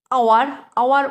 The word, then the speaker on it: hour: B they will arrive within আওয়ার ও দিয়ে উচ্চারণ হচ্ছে, সেজন্য এখানে তার আগে অ্যান বসবে।